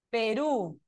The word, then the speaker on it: Perú: Perú, ¿dónde está el acento en la palabra Perú? ¿Está en la última sílaba o en la penúltima sílaba? Es Perú o Perú. En la última, ¿verdad?